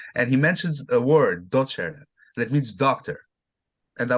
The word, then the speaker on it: Docere: Docere, Docere.